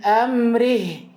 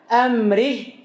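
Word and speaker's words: أمره: Seperti min amrih. Harusnya dibaca amrih. Dia baca min amri. Amri. Tidak ada haknya.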